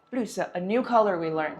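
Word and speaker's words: 绿色: Lǜsè. Lǜsè, a new color we learned.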